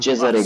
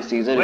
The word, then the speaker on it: Cesare: Cesare gaze. And we'll be broken again. अच्छा Cesare. मतलब मैं सीजर इसको प्रोनाउंस कर रहा था क्योंकि he should have already intercepted the letter.